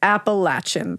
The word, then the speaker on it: Appalachian: you just told me how it's pronounced it's pronounced Appalachian thank you I will hold hold on to